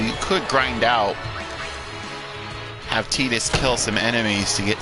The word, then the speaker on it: Tidus: Yes, I pronounce it Tidus.